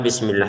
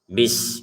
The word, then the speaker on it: bismillah: Kata bismillah ini huruf sinnya jangan sampai kita pantulkan. Jadi karena bismillah ini setiap hari kita ucapkan maka hati-hati jangan sampai salah. Huruf sinnya ini ya beberapa membacanya dengan dipantulkan. Bismillah. Enggak ada di sini pantulan ya. Enggak ada e di sini. Jadi bis seperti itu saja. Bis enggak ada bis enggak ada e. Jadi langsung bismi gu ya.